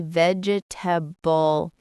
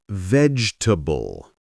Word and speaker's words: vegetable: I used to say vegetable, right? But we don't say all those syllables. The correct way is vegetable.